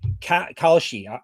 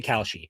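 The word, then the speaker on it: Kalshi: Let's tell you about Kashi. I still aren't I don't think I'm pronouncing it properly still, but I know the she part. We'll say Kali. KAL SHI, that's the important part.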